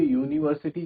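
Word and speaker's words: university: बोलिए यूनिवर्सिटी जब हम बोलते हैं तो कैसी साउंड आती है, यू, यानी कि वाई ओ ओ, ये साउंड आ रही है, यूनिवर्सिटी, यूनिवर्सिटी, ठीक है। तो बिकॉज वाई क्या है, जो यू साउंड है वो क्या है, कॉन्सोनेंट वाली साउंड है, दैट्स वाई हम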